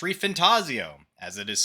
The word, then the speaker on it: ReFantazio: uh today on the docket we got metaphor reantaso as I've learned it is not called reantaso as I said before it is pronounced ref fantasio as it is spelled because it is potentially